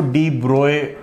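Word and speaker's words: de Broglie: सो डी ब्रॉय wavelength is, हाँ, डी ब्रोगली लिखते हैं पर उसको डी ब्रॉय प्रोनाउंस करते हैं. ठीक है, इट्स डी ब्रॉय.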